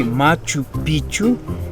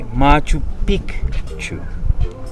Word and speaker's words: Machu Picchu: But you have to pronounce correct, because if you say Machu Picchu, Picchu means pennies. That is the correct way, Machu Picchu in the Quechua.